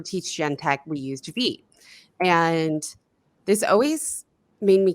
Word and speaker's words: Vite: it's called V because it's following the French pronunciation right rather than uh English so and I prefer